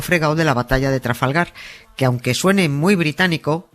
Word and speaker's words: Trafalgar: Que una cosa es que los guiris no sepan decirlo, que en su derecho están y no pasa nada, pero otra muy distinta, que un español snob lo pronuncie con acento inglés comiéndose todas las R's.